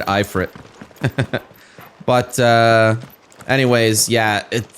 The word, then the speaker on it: Ifrit: second icon of fire Ifrit or afreet as they pronounce it I have always said eye for it but uh anyways yeah